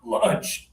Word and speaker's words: lunch: This one is lunch. Lunch. Good. I heard the pressure in your stomach, Abdullah.